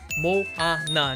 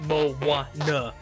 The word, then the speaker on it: Moana: specific I've had people tell me it is pronounced mo ah naw not mo wah yah so I have to be very particular apparently